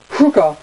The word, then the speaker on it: Cougar: So yeah, it's Operation Cougar, or Cougar, because it's spelt like sugar but with a C.